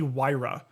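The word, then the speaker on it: Huayra: one okay The Pagani wira I don't know what that is either I'm gonna spell it because it doesn't sound like you you would think it is okay h u a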